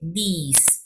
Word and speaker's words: these: Si es el plural these, se pronuncia más alargado y es T-H-E-S, these, ¿sí?